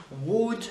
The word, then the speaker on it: would: Would, pas de L en prononciation.